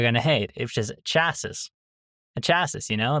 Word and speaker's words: chassis: The the chassy. The chassy. Not the chassis. The chassis. It's kind of interesting because each of those has half of the correct pronunciation. Ah, that's funny. And then the correct one is chassis, right? Chassis. The chassis. The chassis. The chassis of the vehicle. Um, yeah. So, chassis is how you say chassis was heavily damaged.